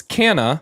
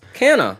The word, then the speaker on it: Canna: Next, their name is Canna from Texas. Canna. And they sent how to say their name. Phonetically.